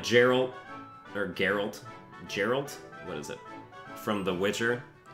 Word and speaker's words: Geralt: It's a hard G and Geralt.